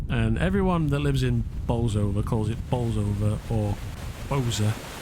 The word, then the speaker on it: Bolsover: And then this woman comes on and starts pronouncing the name of the town completely different to how the people who live there pronounce it. And there was an uproar on social media from the people that live in the town saying, if she calls it Boltsover once more time, I'm going to lose my rag.